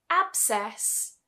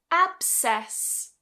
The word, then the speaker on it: abscess: If we take, for example, abscess, abscess, you see, I don't pronounce the C here.